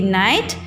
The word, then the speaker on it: knight: Here K-N-I-G-H-T night, then N-I-G-H-T night. Here K-N-I-G-H-T night means he is a soldier. Okay, and K is silent.